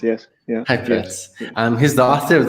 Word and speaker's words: Heipertz: Is that the right pronunciation? Heipertz, yes. Yeah. Heipertz.